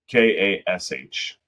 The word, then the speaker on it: cache: KASH. All right. It is a single syllable word that rhymes with dash or smash.